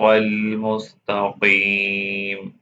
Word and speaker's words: المستقيم: This Qaf is heavy. Pronounce it heavily. Say again. اهدنا الصراط المستقيم. اهدنا الصراط المستقيم.